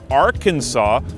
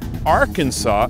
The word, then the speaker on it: Arkansas: question from Daniel Camerini: "Why does Arkansas City get pronounced one way and the state of Arkansas another even though they are spelled exactly the same?" That's right, there's a city called ArkansaS, and a state called Arkan-SAH, and they're spelled the same way.